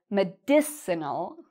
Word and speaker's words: medicinal: part we say medicine the second one is medicinal and the third part we say this part